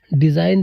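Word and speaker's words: design: ध्यान रखना ऐसा क्यों जब कभी भी आपका एन दिया है और एन से पहले आपका जी दिया रहता है तो जी क्या रहेगा साइलेंट रहता है जैसे आपका दिया है डिज़ाइन दिया है रिजाइन दिया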